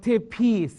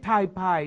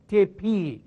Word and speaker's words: tipi: okay the next is called a tepi but ออกเสียง tepi เขียน TEEPE หรือ TIPI now TIPI ไม่ใช่ Thai pie noนะ it's tepi it's called a tepi it's a house of